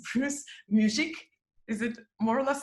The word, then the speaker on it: Muzik: have a very interesting guest i hope i'll pronounce my guest's family name properly but i'll i'll make an effort it's is it more or less there okay you got it people call me music but great yes uh